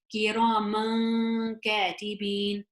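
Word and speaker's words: كراماً كاتبين: The letter that comes after is kaf. Kaf is not a throat letter, it's not a yarmalun letter, it's not the ba, which means it's ikhfa. Okay, and then so that would be pronounced as kiraman katibin.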